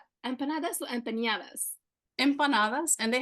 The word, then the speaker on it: empanadas: But empanadas, that's how you pronounce it.